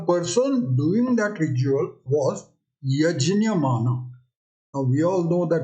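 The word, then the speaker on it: यज्ञ: yeah and this actually the pronunciation of this is yajna yet junior now some places in western india and southern india even today people pronounce it correctly as yes new in the olden days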